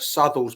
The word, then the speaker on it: Southwell: Robert Sle. The Robert Sle is um that's spelled Southwell, by the way, for people that that want to check it out for themselves.